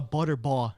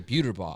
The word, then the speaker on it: Buterbaugh: There's some of them that actually spell it with 2 T's. Like you, Butterball. You're one Butterball. But we like say Buterbaugh.